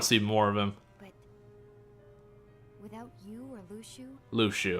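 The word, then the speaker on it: Luxu: see more of them Lu Shu okay that's how it's pronounced I always say it looks ooh I guess yeah Lu Shu does make a bit more sense I'm going to go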